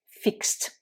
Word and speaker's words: fixed: ajouté ed est là le ed se prononcer fixed autre exemple avec le